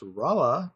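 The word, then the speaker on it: Rolla: I did a special special transport load from Kansas City underground to Rala. I have been informed it is pronounced Rala by Willie. Um and then took another load from Rala to St.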